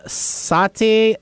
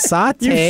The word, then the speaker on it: Satya: we're going to be is that satya said her name every single time no it's a guy though satay medellin spell it s-a-t-y-a yeah so sati right satya satya nudella nudella okay so so